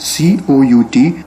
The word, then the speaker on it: cout: then secondly we have cout which we pronounce as c out and it stands for